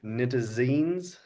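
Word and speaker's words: nitazenes: Nitazines.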